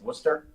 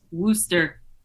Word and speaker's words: Worcester: Also, did anyone else notice that George Wendt mispronounced Worcester? Yes. Worcester.